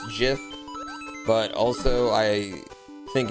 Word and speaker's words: GIF: to jump down there the G is for graphics it has to be get not [ __